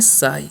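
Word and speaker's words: sigh: है नेक्स्ट है एस आई जी तो इसे हम पढ़ते हैं साई इसे हम क्या पढ़ते हैं साई ठीक है उसी प्रकार से इसे भी हम क्या पढ़ते हैं साई ठीक है यानी कि उच्चारण सेम आ रहा है ना अब इन सभी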